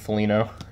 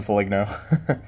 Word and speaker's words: Foligno: 32 of 75 and Nick Foligno I mean Nick polino I used to pronounce it for like no 99 to 75 and